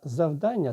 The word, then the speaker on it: завдання: Наголос падає на другий склад.